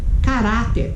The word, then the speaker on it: caráter: Cadeira, mesa, caráter. Vamos lá? Cadeira, cadeira, é o dei. Mesa, é o me. Caráter, caráter, é o urá.